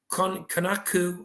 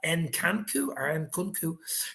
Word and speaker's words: Nkunku: If not, Konaku, I think how you pronounce his name like that, Nkunku, 35 goals, 16 assists, and 51 appearances.